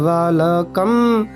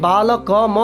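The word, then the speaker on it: বালকম্: মুখস্ত হয়ে যায় তাই আরেকবার শুনিয়ে দিচ্ছি বালক বালকম বালকে বালকায় বালকাত বালকস্য বালকে বালক অনেকেই হয়তো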